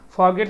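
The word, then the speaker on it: forget: हम आर के साउंड को जो है इसको साइलेंट करेंगे, ठीक है ना, फॉरगेट बोलेंगे, फॉरगेट, भूलना।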